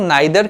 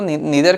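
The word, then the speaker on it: neither: तो इसे बहुत लोग नाइदर कहते हैं। दोनों ही सही है प्रोनाउंस करना, जो आपको सही लगे आप कर सकते हैं। मैं स्पेशली इसको नीदर कहता हूँ।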